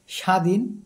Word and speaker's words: স্বাধীন: বর্ণের উচ্চারণে স্বাতন্ত্র আছে শব্দের আদিতে ব ফলার উচ্চারণ হয় না যেমন তক আচ্ছা শব্দের